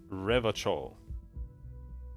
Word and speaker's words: Revachol: of the satirical newspaper promptly mon riverchall is pronounced revachol orangey is pronounced orangy flashy is pronounced classy